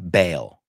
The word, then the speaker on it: bail: We don't, it's not like a dual sound in there. It's L, L, like cerveza inglesa, bail, okay?